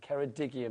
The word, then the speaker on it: Ceredigion: But Ceredigion apparently is how you say it.